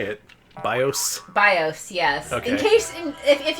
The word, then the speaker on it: BIOS: BIOS, yes. Okay. In case, if you're new to this stream, I'm pretty aces at mispronouncing things.